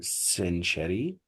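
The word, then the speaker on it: century: تبقى كتري نو نو سنشري ننطقها ازاي سنشري سنشري سنشري سنشري المقطع سن السي بتاعتها بتنطق اس وبعد كده بصوا كده التي ار واي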